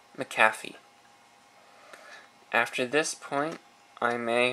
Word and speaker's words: McAfee: of the maafi antivirus some call it McAfee it's actually pronounced maffy after this point I